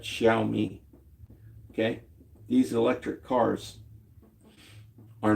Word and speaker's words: Xiaomi: all the places I just named and more which are Xpang, Neo, Ji, Cherry, um, X Yomi, X I O M E. I guess you pronounce that Xiaomi.